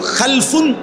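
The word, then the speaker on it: خلف: উচ্চারণের মধ্যে একটু ভিন্নতা মাঝখানে একটা লাম আছে এ লামটার মধ্যে যদি সাকিন হয় তাইলে হল খালফুন আর যদি লামের মধ্যে জবর হয় তাহলে হল খালাফুন আরবি শব্দ এ খালফুন মজিদ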